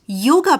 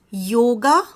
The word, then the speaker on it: yoga: And not just that, she is an avid yoga practitioner.